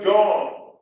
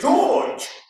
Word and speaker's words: George: They call him John. So, yeah. I mean, where? Your president's name, just pronounce it. It's George. It's not John.